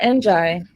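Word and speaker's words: Njie: Oh, Maya Njai.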